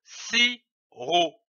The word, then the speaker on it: sirop: L'association de ces deux syllabes donne le mot sirop. On ne prononce pas le P, comme ici du sirop.